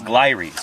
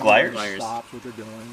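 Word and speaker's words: Glires: is primates gotcha I always thought to be pronounce glories but it's just gliders you are Kanto gliers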